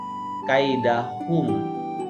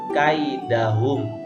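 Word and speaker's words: كيدهم: inilah gede besar disebutnya jadi jangan kalian bacanya kaidah hukum tapi kaidahum kaidah hub v-pump keliling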